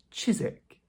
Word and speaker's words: Chiswick: This place that looks like Chiswick is simply pronounced "Chiswick". So another one where we ignore that W.